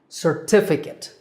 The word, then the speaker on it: certificate: syllable is kit CIT with the stress on the second syllable T certificate number 10 is data